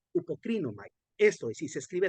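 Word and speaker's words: ὑποκρίνομαι: Y esta se pronuncia hupocrinomai, hupocrinomai.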